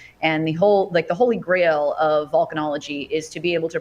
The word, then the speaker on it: volcanology: other places in Europe, they spell it Vulcan, Vulcan, volcanologist. But here in America and most other places in the world, it's VOL. So it's volcanology, volcanoscience.